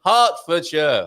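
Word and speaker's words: Hertfordshire: for for sure but when I hear Herford sure I it's like okay yeah that's I would spell it ha so and you've gone a bit plummy when you said it her for for sure he's in this morning rather wet here in Heartford sure heart R heart after after a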